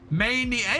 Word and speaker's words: Maniac: The Manic. I've done this before. I've mispronounced your name wrong before. Yeah, it's Manic. That extra, it's that A that. Maniac. It is Maniac.